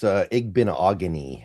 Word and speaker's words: Igbinoghene: Yeah, it's Igbinoghene. I learned how to pronounce it because it kind of rhymes with mahogany.